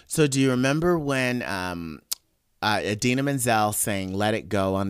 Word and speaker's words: Idina Menzel: So, do you remember when Idina Menzel sang "Let It Go" on the Oscars a few years ago, and John Travolta totally like mispronounced her name? Adele Dazeem. Yeah, yeah.